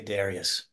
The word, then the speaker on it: Darius: I would always say Darius. Darius. All right. That's how I say it. I saw that some of the experts they weren't clear on the pronunciation, but I always said it Darius, and that's how we kind of talked to it on set.